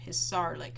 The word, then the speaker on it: Hisarlik: So underneath there it says it was found in Hisarlik. I think I pronounced it wrong the first time. Hisarlik, it's a funny word.